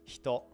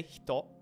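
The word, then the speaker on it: ひと: So because this e, which vibrates your throat, is surrounded by h and t, which don't vibrate your throat, you don't activate your voice box to pronounce them, it just gets kind of muted. So you move your mouth to like pronounce the e, but you just don't turn your voice box on, essentially.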